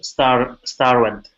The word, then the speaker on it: starved: When I finished cleaning, I was starved. I prepared this food for dinner. Okay, finished was good. All right, but I was starved. V. Starved. Yeah, V is a voiced sound.